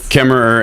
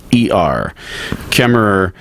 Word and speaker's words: Kaemmerer: Kemmerer, and that's spelled Kaemmerer. Kemmerer, and she's the author of LinkedIn for the Savvy Executive.